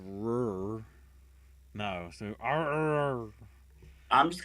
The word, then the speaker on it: RRR: Top Hat says it's pronounced "rrr."